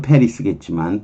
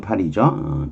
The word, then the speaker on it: Paris: Located 11 miles out of Paris 영어로는 페리스겠지만 불어로는 파리죠. 페리스 파리에서 11마일 떨어진 곳에 위치한 베어사유 여기 이쪽 발음이 불어로 그렇게 발음이 돼요.